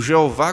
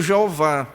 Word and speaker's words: Jeová: as quatro letras que que podem também ser pronunciadas como Jeová com total referência na verdade a pronúncia desse nome foi perdido dessas quatro letras do hebraico foi acrescentado as vogais de Adonai E aí vem essa pronúncia Jeová então Perceba o que